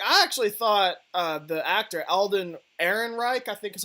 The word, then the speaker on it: Alden Ehrenreich: I actually thought the actor Alden Ehrenreich, I think is how you pronounced it, was a pretty good Han Solo.